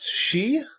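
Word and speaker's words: Sidhe: Yeah, I think it's pronounced she. It is pronounced she.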